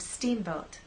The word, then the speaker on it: steamboat: So when we say steamboat, I want the first part to be loud and the second part to be softer.